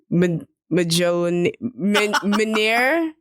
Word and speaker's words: Mjolnir: Yeah, the J is silent.